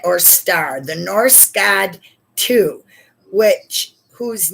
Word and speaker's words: Tiw: Victory in battle, a guiding planet or star, the Norse god Tu, whose name we get Tuesday from. So you pronounce it like two.